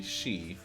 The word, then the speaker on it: Sidhe: fantasy elf is actually she. So it's spelled Sidhe, but pronounced she.